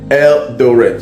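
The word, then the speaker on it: Eldoret: but the people knows I'm talking about elder Eldor E L D O R the the pronounce the pronunciation is it right eldor yes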